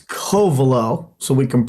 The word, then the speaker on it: Covelo: it's Covelo, so we can pronounce it right.